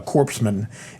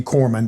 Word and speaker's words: corpsman: corpses and so the the p is silent so anyway we're it's like the Marine Corps and a Navy corpsman that that help us